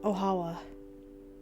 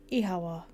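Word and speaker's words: Oíche mhaith: One dialect can pronounce it as Ohawa, or Ihawa.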